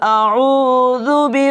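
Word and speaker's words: أعوذ: করতে হবে পড়তে হবে যদি এখানে আপনারা আইন না বলে হামজা লাগিয়ে দেন তাহলে কিন্তু যেটা এটার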